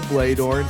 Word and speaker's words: Bloedorn: Her name is Isabella Bloedorn. It's pronounced that way. Make sure you get that correct.